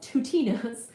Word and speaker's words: twotinos: These objects have been given the name of Tutinos. Tutinos, Twotinos, rhymes with Plutinos, so Tutinos and Plutinos.